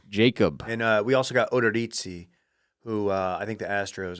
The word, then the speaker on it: Odorizzi: Do you pronounce it correctly? Odorizzi? I was joking. It's Odorizzi.